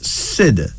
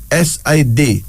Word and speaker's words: Sid: bold like a lion here's another male name Sid s-i-d Sid it's a Muslim name from Mauritania and